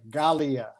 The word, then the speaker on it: Galia: again for our people g g as in jeffrey no g is in gold a l i a gallia gallia melon melon yeah